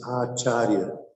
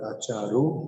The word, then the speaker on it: acharya: Thai people of acharya it is acharya not acharu but acharya and so it became agile